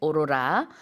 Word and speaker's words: aurora: usual all right so in Korean we say Aurora but in English it's Aurora that's right Aurora the the emphasis is on the second syllable now Sue did you